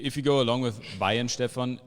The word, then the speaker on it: Weihenstephan: um if you if you go along with bayern stefan it's always better than y and stefan because wine 7 is the american way to say it yeah